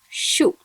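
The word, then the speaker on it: しゅ: When she combines with a small u, it must be pronounced as shu.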